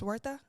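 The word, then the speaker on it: Huerta: Oh, and then the second, well, the second to last one is Dolores Wortha. I think I pronounced her name right. I just found out that the H is silent.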